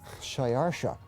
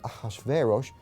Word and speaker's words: Xerxes: His Persian name, in Old Persian, which is his original native language, is Shayarsha. Now that was hard for the Jews to pronounce, so they said Ahashverosh. We know him as Ahasuerus. And the Greeks said Xerxes, which is Xerxes, okay?